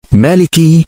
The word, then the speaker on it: مالك: yang membacanya Maliki. Ma. nya panjang, Fama'nahu.